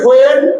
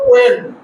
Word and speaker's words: when: ধরো এই যে এই শব্দটা লিখলাম, এটাকে আমরা বলি হোয়েন, কিন্তু সঠিক উচ্চারণ হলো ওয়েন। এইটা উচ্চারণ করা যাবে না, বলো ওয়েন ওয়েন ওয়েন।